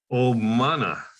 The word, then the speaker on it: Obmana: Looks like Obama, but it's not Obama. Obmana.